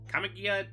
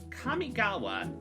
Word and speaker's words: Kamigawa: releases first of all kamikya okay wow that was a mispronunciation kamigawa neon dynasty now this